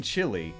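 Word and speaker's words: chile: cut my time down it's pronounced the same as chili but it's spelled like the country green chili is absolutely amazing we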